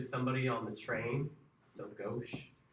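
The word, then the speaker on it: gauche: I think I'm saying it wrong, too. I think it's more pronounced go.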